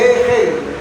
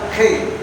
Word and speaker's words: Hegel: Se lee Hegel. La H se pronuncia como J. Hegel.